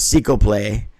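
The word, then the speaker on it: Ciclope: Jr spelled cyclop like a cyclops but it's seel play that's how you pronounce his name uh he's a light heavyweight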